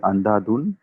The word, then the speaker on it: Andhadhun: So I mean, other than changes you're talking about that has happened, I think I mean Andhadhun was a big big break for me. Did I say it correctly? Andhadhun?